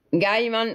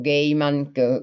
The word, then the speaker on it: Gaiman: te lui è attendibile Guarda Gaiman o giman come lo si voglia pronunciare Gaiman Io preferisco ehm normalmente